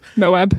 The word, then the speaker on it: Moab: they went to moab mohab is that how you say it the desert yeah moab yeah and then they went